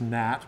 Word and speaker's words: gnat: Just gnat, but it sounds weird.